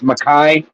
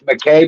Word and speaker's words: McKay: last name's McKay and we actually pronounce it if we're supposed to pronounce it correctly it's maai but because of spelling and americanizing it it's McKay but what I want